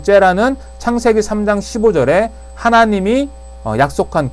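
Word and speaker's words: זרע: 째라라고 읽는데요. 요 째라는 창세기 3장 15절에 하나님이 약속한 그 후손, 요게 씨예요.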